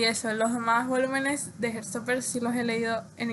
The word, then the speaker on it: Heartstopper: Por cierto, estoy pronunciando Heartstopper así porque es como que creo que es como más se entiende. Pero yo comúnmente lo pronuncio en el inglés británico porque Alice Oseman es británica, entonces como que me parece que debería pronunciarlo con ese acento, entonces debería ser Heartstopper, pero ahorita no me